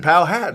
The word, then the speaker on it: Powhatan: Andrew from, I don't want to mispronounce this. Let me help you. Powhatan? Powhatan. Powhatan.